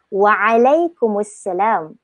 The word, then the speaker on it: Waalaikumsalam: Kita boleh jawab dengan Waalaikumsalam. Tu waalaikum. Okay, Waalaikumsalam cara jawapan dia. Waalaikumsalam. Dia akan emphasize dengan huruf ain dia. Dia akan tekankan Waalaikumsalam.